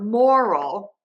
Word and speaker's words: moral: long ER and then think about adding another Earl for moral to really help you think about connecting that first part of that or to the second part of the word that second syllable technically there's only one R there but for some of my students it's been really helpful to think about having two R sounds there and I think also